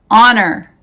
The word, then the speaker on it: honor: spellings who whose whole the h is silent in these words our honest honor air oh vehicle exhausted